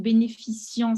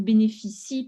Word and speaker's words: bénéficie: Et après, il bénéficie, l'avant-dernière phrase, c'est pas il bénéficiant, c'est il bénéficie parce que c'est un verbe à la troisième personne du présent.